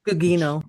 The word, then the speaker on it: Gugino: Gugino. Gugino.